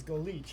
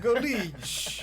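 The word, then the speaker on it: Golić: Because Golik is Golich, I knew. So go leech. It's Croatian.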